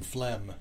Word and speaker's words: phlegm: are silent letters, like the P in Psycho. Silent like letters. The G in phlegm.